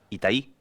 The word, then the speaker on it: Itaí: Itaí.